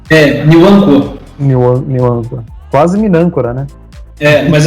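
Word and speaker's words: Nwankwo: E só fechando, acho que esse garoto do Crotone, esqueci o nome dele agora, porque é um nome bem fácil de pronunciar. Né? Niwankwo.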